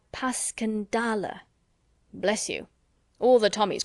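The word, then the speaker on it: Passchendaele: Marant, it was so strange to hear you call it Passion Dale. Why, if I may ask? Because that's the way I pronounce it to myself, but I looked it up, and it's more like Puscandala.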